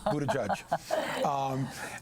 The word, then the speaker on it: Buttigieg: Yes, I'm not trying to avoid trying to pronounce the name. It is Buttigieg.